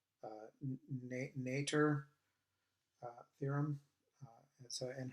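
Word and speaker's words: Noether: theorem or let's say the german pronunciation i guess it's o with a with umlauts over it so it's like uh nature uh theorem uh so and her name is uh emmy nature and this this was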